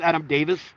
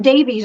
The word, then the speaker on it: Adam Davies: work on that because it's pronounced Adam Davis but it's spelled Adam Davies just because he's from England it's pronounced I think I said Davies earlier so I apologize